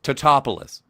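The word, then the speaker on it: Tatopoulos: And Patrick Patrick Totoopolis created the uh Topoulos Topoulos created the uh the old helmets and stuff.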